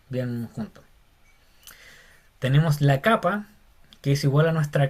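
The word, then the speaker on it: κάππα: Tenemos la capa, que es igual a nuestra K. Capa se dice. Y se pronuncia como una C, como en casa.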